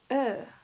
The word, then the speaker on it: Ø: Ö is pronounced like a mix of the letters O and E, which in Norwegian are pronounced O and E.